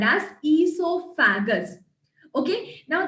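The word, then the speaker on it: oesophagus: is also called as esofagus okay now there's a small difference between how you pronounce it and how you write the spelling make sure that you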